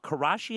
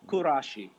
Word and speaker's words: Kurashi: not she's got a new book out called karashi at home how to organize your space and achieve your ideal life I'm so glad I could give her a plug I do believe it's pronounced kurashi kurashi is that another word that is being used